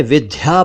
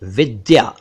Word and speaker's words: विद्या: एक शब्द है विद्या कुछ लोग इसे विद्या पढ़ते हैं विद्या जो कि गलत है सही उच्चारण है विद्या विद्या विद्या से बना